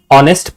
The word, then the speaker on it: honest: But see when you pronounce this word it says honest right? The word that is coming out is O.